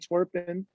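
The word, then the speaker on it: Antwerpen: i lived in antwerp and twerpin is the correct pronunciation but um i loved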